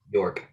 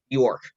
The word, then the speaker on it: Bjork: on there's bull shark bull bjork i butchered that really badly i do apologize york it's anders bjork york all right you guys